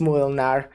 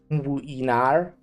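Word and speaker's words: Młynar: The little L with the line through it is pronounced like a U, not an L. Muinar, but it's as 2 syllables. Muinar.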